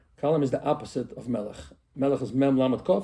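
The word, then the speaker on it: מלך: Melech, yeah.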